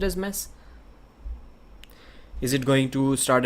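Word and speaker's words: Mech: name is pronounced and he told me it is mess debunker mess and it is written as m-e-c-h and everyone even i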